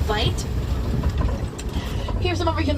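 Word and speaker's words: wyd: The white rhino got their name as a mispronunciation to the Afrikaans word vite.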